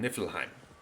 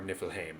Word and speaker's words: Niflheim: But to the north of Ginnunga Gap, there's a place called Niflheim, or Niflheim if you want to be snooty about my pronunciation.